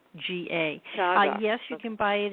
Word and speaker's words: Chaga: How do you spell that, Sandy? Changa. Changa, okay.